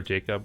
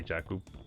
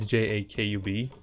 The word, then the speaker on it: Jakub: In the toddler days, you know, my name is Jakub, of course. Or Jacob, but I just say Jakub. But it's Jakub, as you see in the bottom corner over there.